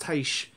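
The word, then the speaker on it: Tyche: sure enough tai chi or i guess it's pronounced taish in greek i think it's the goddess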